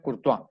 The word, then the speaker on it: Courtois: Se escribe Courtois, Courtois, y se pronuncia Courtois.